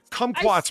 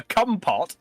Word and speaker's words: kumquat: It's like, kumquats may be delicious, but I won't eat them because of the sound of the name. Well, if you pronounce it correctly rather than calling it a cumpot, it probably wouldn't be so.